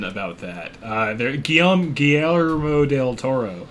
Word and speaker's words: Guillermo: there's one pun about that uh they're Guillaume Guillermo del Toro how the do you say his name Guillermo Guillermo there we go yeah Del Toro he's in